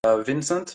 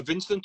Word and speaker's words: Vincent: your name uh so my first name is pronounced uh Vincent V with a French which one do you prefer do you prefer Vincent or V Vincent is